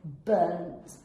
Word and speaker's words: burnt: tense of burn is burnt burnt so you have like a t in the end not a d right yes because it sounds like burnt you burnt the toast